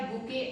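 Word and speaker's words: bouquet: हम लिखते हैं बुकेट है लेकिन we pronounce it एज बुके. Okay. T is silent. बुके of flowers. तो यहाँ पे टी भी साइलेंट है, ओ भी साइलेंट है.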